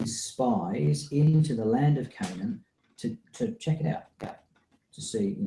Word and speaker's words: Canaan: exploring Canan so that word is can Canan Canan is how you say that and I have